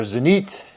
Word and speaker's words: Zenith: at for chronos uh zenith or zanit if you pronounce it with the foreign accent as anit they have